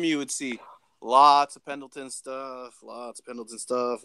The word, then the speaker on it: Pendleton: Is that how you pronounce it? Pendleton? Pendleton, yeah.